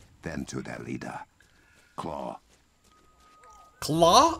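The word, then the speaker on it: Klaue: to their leader claw claw i thought it was clue i mispronounced that like crazy i gotta remember how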